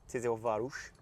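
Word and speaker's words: Tiszaújváros: coming off the back of Tis Varush as I believe it's pronounced um where to be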